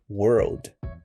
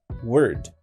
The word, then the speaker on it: World: para proteger nosso mundo muitos alunos têm uma dificuldade para dizer a palavra World Tome muito cuidado para você não pronunciar Word que seria a palavra Se esse for o seu caso eu indico você irá estudar mais a pronúncia do L praticamente para você fazer a pronúncia do L você precisa encostar a sua língua no céu da sua boca produzindo esse som vamos